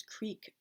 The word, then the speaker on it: creek: It's the same way I try to pronounce creek properly among my New York friends, though since there's a Sand Creek Road in the Albany area, sometimes I find myself using the crick pronunciation I picked up from my Pennsylvania roots, and there are a